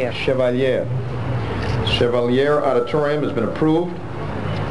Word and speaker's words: Chevalier: Center Auditorium grant funds for the, do you pronounce it Chevalier? Chevalier.